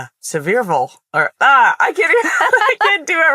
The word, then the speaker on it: Sevierville: It looks like Seaverville outside of Pigeon Forge. And then you show up and everyone's like, Sevierville.